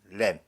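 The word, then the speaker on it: lamb: 모든 스페클드, 반점이 있거나 스파티드, 얼룩이 있는 모든 양들, 그리고 다크 컬러드, 어두운 색깔을 가진 램, 비가 묵음이죠.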